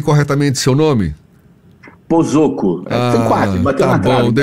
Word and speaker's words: Posocco: Pozzocco. Quase, bateu na trave. Bom, eu estava aqui na Pozzocco, não, vamos falar corretamente. Pozzocco, tá certo.